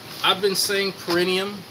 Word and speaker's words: perineum: You know, I've been saying perineum to physician assistants, perineum. Oh, I'm thinking I got it way wrong. Perineum. Okay, you say it with a soft A.